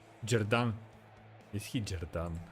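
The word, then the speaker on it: Xherdan: Yeah, so it's XH Jerdan.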